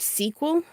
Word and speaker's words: SQL: I also in the data class that I'm taking, there's a thing called SQL, and apparently people who aren't me decided that SQL would be pronounced sequel, but of course every single time that I see it, my brain says squirrel.